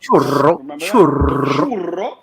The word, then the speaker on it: churro: Churro. You gotta roll your R's.